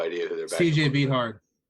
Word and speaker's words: Beathard: i have no idea who they're about cj beathard right sure yeah yeah bether thank you that's it that's it i know i remember it looks like beat hard but it's it's it's bad i recognize that